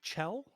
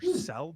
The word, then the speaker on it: Chell: The Caesar was invented in 1969 by restaurant manager Walter Chell, or Sell, depending on how you say it.